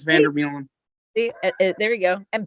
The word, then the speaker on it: Vander Meulen: Vander Meulen is how it's pronounced in Dutch, but we use Vander Meulen.